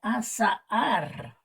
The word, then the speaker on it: azahar: Tenemos la segunda palabra que se pronuncia azahar, un poquito parecida con la primera, que es azar, y por eso cae en la categoría de parónimas.